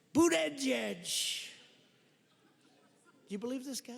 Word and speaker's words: Buttigieg: I think it was boot edge. Boot edge. They said, think of it as boot and then edge, because nobody can pronounce this guy's name.